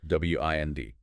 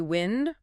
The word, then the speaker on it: wind: W I N D can be wind rhyming with send. That's the noun. Moving air. Or wind rhyming with find. That's the verb meaning to turn or coil something like winding a clock or a string.